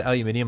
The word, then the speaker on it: aluminium: I said aluminium like that because that's the correct way to say it.